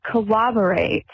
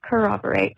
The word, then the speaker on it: corroborate: Thank you so much for saying the word corroborate correctly. You don't know how much it bugs me to hear even police officers, newscasters, even TV shows about true crime will say corroborate with a W. There is not a W in that word. It is corroborate.